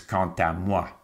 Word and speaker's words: quant à moi: If it's quand all by itself, it's quand. When it's followed by a vowel in the next word, it becomes quant à moi. And it's as if the consonant has all of a sudden been attached to the succeeding word.